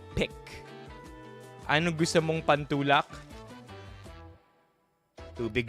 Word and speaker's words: Paik: Alright, so if you look here, it says Paik. Ang tamang pagbigkas niyan ay pick.